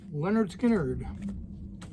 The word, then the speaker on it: Lynyrd Skynyrd: somewhere around the tenmark the Lynyrd Skynyrd pronounced Leonard Skynyrd probably 12 to 15